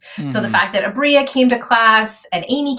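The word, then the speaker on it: Aabria: It's Abria. Abria Iyengar. Thank you so much. I'm terrible at names. I apologize. Abria Iyengar.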